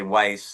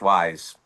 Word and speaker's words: Wyse: There's 50% of the people say Weiss and that's not how how to pronounce it. Old English, Wise.